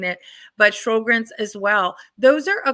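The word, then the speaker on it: Sjögren: always have a hard time saying it but shogren as well those are a couple of autoimmune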